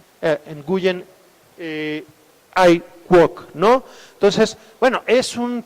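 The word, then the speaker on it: Nguyễn Ái Quốc: no se hace así se pronuncia nguyen ai quoc no entonces bueno es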